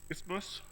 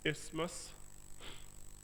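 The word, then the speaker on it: isthmus: At ismouth ismas which is you know has two silent letters here that we don't say ismas.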